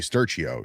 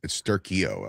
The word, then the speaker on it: Sturchio: "My name is Sturchio." She's like, "No, it's Sturchio out here, like with a k, right?"